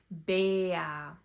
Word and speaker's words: Bär: For example, instead of saying a, we say e. Bär.